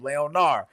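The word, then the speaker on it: Léonard: Leonard because you don't say the last letter.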